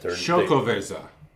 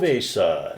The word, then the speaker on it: Xocoveza: Xocoveza. Sorry to interrupt. Xocoveza. It says it on there, how to pronounce it.